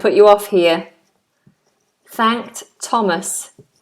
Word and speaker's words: Thomas: off here thanked Thomas Thomas is one one of the few words which has a th that is not pronounced as a th the name Thomas is a th that is pronounced as T so we're saying 33